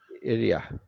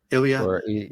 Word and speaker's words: Ilya: Ilya. Ilya.